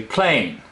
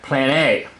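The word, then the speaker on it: πλάνη: right here okay the the accent over the e it means it's pronounced more like an a PL a you might want to say plain but it's more like plan a okay now there's a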